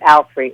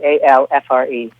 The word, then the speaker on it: Alfre: She had never thought about it, but the root of it appears to be all free, Allfree. Oh. And she pronounced it out aloud, Alfre, Alfre.